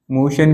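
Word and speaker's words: motion: प्रमोशन कहते हैं पदोन्नति नेक्स्ट आ गया हमारा मोशन भी हो जाएगा एम ओटी आई एन मोशन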